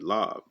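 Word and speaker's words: לב: That's your mind, your lob. That's how you say it in Hebrew, the la and the ba.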